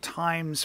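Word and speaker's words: Tyne: of Newcastle upon th is that how you pronounce it Professor it is it's the river the Ty River yes the time River of course uh and you have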